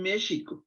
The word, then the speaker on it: México: nuestras mayores flores sin méxico con x suave como lo pronuncian los indios significa donde estado es